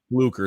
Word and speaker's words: Fluker: What did you think of the DJ Flucker stuff? I said his name wrong, and everybody I must have had a million comments on saying his name wrong. Right? Fluker. It's not. Fluker. I said Flucker.